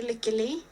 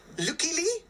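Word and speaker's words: Lykke Li: I've seen it pronounced all different sorts of ways. I say Licky Lee. Licky Lee? Licky Lee. Lucky Lee?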